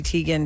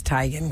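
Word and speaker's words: Teigen: my name is Chrissy Tegan to the world now that I'm well known but that's not actually how you say my name and her mom is like yeah it's tigan guys but there's no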